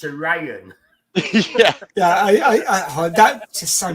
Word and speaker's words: Orion: When we just say it properly, it's Orion.